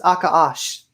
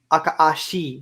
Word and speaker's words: Akaashi: Japanese don't say she. They sometimes say it, but usually it's sh, just that sh. You know what I mean? So it's Akaash, not Akaashi.